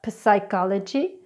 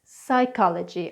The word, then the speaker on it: psychology: The silent P is not normally pronounced when it comes after an N, an S or a T (PN PS PT) like the words pneumonia psychology receipt now let's go through those words again it's not pneumonia it's pneumonia it's not psychology or psychic it's psychology or psychic it's not receipt its receipt.